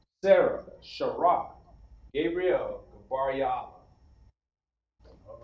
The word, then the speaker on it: Gabriel: By request, we have Sarah, okay, or pronounced Shara. Shara and Ha, all right? We put that together, Shara. Then lastly, Gabriel.